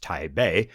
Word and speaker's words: Taipei: Tai uh you know technically pronounced Tai Bay received the greatest number of these Chinese arrivals type A became very much a